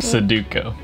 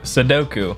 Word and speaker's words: Sudoku: already finished the sudoku suduko suduko no no that's not what it is sudoku doku i always mess